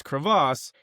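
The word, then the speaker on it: Krivas: Now, I'm going to make sure that I pronounce this name correctly. It's Crevasse.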